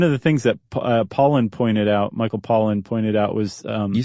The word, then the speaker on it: Pollan: Do you know how to pronounce his name correctly? No. Pollan.